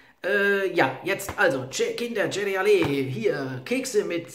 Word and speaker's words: CereAlé: hieß es dann ja, Cereale. Ja, weil ich war hier stutzig geworden durch diesen Apostroph, dachte ich so, ja, kann das Cereal heißen? Also Cereale wird es in Italien ausgesprochen, ich weiß nicht, wie wir es hier aussprechen.